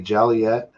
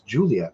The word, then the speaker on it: Joliet: If you say Jaliet for Juliet, Illinois, it's a it's Juliet, right? Because of racism against the Irish back in the day.